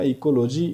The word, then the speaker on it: ecology: मैं सिर्फ इकोलॉजी पर जो है वो कंसल्ट करूँगा, इकोलॉजी आपके सामने रखने की कोशिश करूँगा। सो इकोलॉजी, लॉजी means to study. तो इसको लॉगी भी पढ़ते हैं कई लोग, लेकिन एग्जैक्ट प्रोनाउंसिएशन लॉजी होती है।